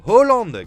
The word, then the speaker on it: Haaland: doutez c'est le cyborg Erling Irlande ou plutôt Erling Hollande comme ça se prononce en norvégien comme le placard de